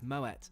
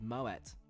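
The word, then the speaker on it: Moët: After stowing my bag, I'm offered a refreshing glass of Moet. Yes, before you say, it's pronounced with a hard T thanks to its Dutch heritage and founder Claude Moet.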